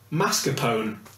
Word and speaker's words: mascarpone: Mascarpone. Type As of in the cheese. cheese. Mascarpone. Mascarpone. That's not how you pronounce it.